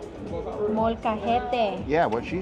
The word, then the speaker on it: Molcajete: They gave us the roasted, I probably mispronounced this, molcate? Molcajete.